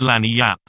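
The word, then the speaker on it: lagniappe: expressive handy word lanyard they pronounce it lani app it is Spanish so they said we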